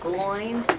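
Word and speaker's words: McGloin: last name uh MCG l o i n gloin okay and he's director of of uh traffic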